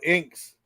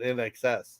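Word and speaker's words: INXS: band called nxs I thought it was called inks and that's how it's pronounce the first I said in excess okay yeah that motor Alpha yeah yeah I'd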